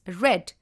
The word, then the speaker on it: read: the case of read the past form of read is red though you will be spelling it as read it has to be pronounced as read only and not read we can use auxiliaries